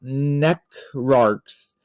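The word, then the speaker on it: Necrarch: dragons so next up neck arcs necra arcs I'd always call them necros again just because I was a kid couldn't pronounce things right these are like your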